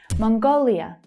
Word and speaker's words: Mongolia: Mongolia, Mongolia. So the second syllable there is stressed.